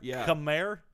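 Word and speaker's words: Khmer: only represents one particular I actually know how to pronounce that word c KH hme R cam C where's the a that's just how it's pronounced so the H makes an a sound it does I think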